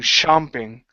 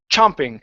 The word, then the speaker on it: chomping: and you're saying shopping chomping okay in the ch sound your tongue has to be touching the top of your mouth chomping and it goes and